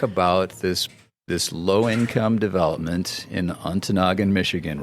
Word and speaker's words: Ontonagon: I had actually been mispronouncing it. I was saying Ontonagon. So she said two things. First of all, it's pronounced Ontonagon.